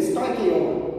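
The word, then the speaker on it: στοιχεῖον: Isso aqui vem do grego, stoikeion, a pronúncia em grego, stoikeion. Isso é a pronúncia em grego de elemento.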